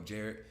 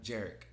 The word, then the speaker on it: Jarek: I was like, oh, Jared. Oh, hi, I'm Jarek. Jared? Yeah, hey, Jared.